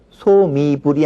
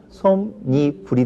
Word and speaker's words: 솜이불: 우리 말에서는 두 마리 합쳐질 때 뒤에 이모음 계열의 합성화가 올 경우에는 니은이 덧나는 현상이 있습니다. 그래서 솜이불은 소미불이 아니라 솜니불이 되고요.